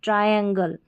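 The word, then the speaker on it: triangle: अगला कोड है टी आर आई। टी आर आई को ट्राई या फिर ट्री।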